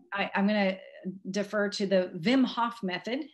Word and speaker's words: Wim Hof: say it of course i was saying wim hof at one point now i'm saying vim hof but anyway there's this